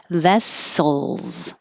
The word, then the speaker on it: vessels: air like head and the S at the end it sounds like a z vessels so you might have